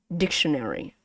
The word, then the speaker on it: dictionary: The stress is probably here, right? Your stress is here. So we say dictionary, right? Dictionary. Yeah, dictionary. Easy, right? So compare it with Vietnamese intonation. In this word, you actually pronounce two accent mark. It had two accent mark, similar to Vietnamese. You have this accent mark and this accent mark, like in ga and ga. So this accent mark is from the first syllable, dic, right?